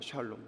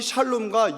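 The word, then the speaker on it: שָׁלוֹם: 평안하나의 히브리어 발음이 지금 다 알고 계신 것처럼 어디선가 들으셨던 것처럼 뭐라고요? 샬롬입니다. 샬롬. 그래서 속인다라는이 샬라는 평안하다라고 하는이 샬롬과 연결된 단어예요.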